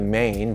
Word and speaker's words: 马: traditional character here you can better see the mane blowing in the wind on the top and